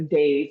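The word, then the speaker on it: Dev: So it's Dave like Dave Dave. Um, but it's actually spelled if you were look as deev, but that's how we say it.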